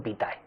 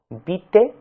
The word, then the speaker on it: vitae: la segunda palabra, ¿verdad?, se puede pronunciar de distinta manera, se escribe de una única forma, vite o vitae, pero lleva tilde siempre, ¿verdad?